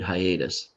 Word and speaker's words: hiatus: Hiatus is unusual because you hear the I and you hear the A.